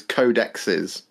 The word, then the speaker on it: codexes: so it's definitely codexes the official warhammer way of pronouncing multiple plural codecs is codexes that is what they're